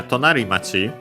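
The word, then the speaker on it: 隣町: So yeah, tonari machi, the accent of the compound is on the ri, on the final syllable of the first word part of the compound.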